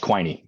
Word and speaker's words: Quiney: And I've got my Q, which represents my last name, which is pronounced Quiney for those of you that are curious.